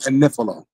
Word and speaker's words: Agnifilo: She keep pronouncing Mark. I said that because she be saying that Mark Agnifilo, adding extra syllables on this man's name. His name is Mark Agnifilo.